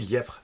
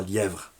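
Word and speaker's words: Lièpvre: ça pour dire que lièpre ça s'écrit l i accent grave pvre et que moi je dis liep et pas lièvre ils font ce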